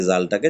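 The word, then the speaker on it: ذال: করতে ভাই জিম জাল জীবের আগালে যেমন ছা উচ্চারণ করলাম জীবের আগালে হালকা হাওয়া বার করে তেমনি জালটাকে জীবের আগালে হালকা হাওয়া দিয়ে বের করতে হবে জাল ঠিক এমনিভাবে জাটাকে একটু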